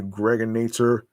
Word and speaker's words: Gregonator: And like I said, man, aka the Gregonator. Rhymes with now or later.